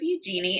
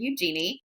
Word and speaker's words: Eugenie: But there are two other royal siblings that are getting a little bit of, shine right now, and that's Princess Eugenie and Princess Beatrice of York.